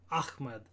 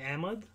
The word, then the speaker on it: Ahmed: people say is like Ahmed, with like the kind of sound Ahmed, but we sort of say Ahmed, Ahmed for like kind of the Pakistani style. I've never really liked the way that we pronounce it, the Pakistani style, because like A-H-M-E-D, Ahmed, like that doesn't, where's the A when it's A-H and then mud versus when it's M-E-D, like it just never made sense to me.